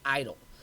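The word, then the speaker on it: EIDL: it's called e-i-d-l uh sometimes people pronounce it idol so that is meant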